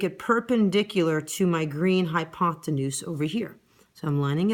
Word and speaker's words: hypotenuse: Okay, once again, taking my ruler, lining it up with my blue hypotenuse, rhymes with moose, draw 1 centimeter or 1 millimeter, whatever ruler I'm working with here.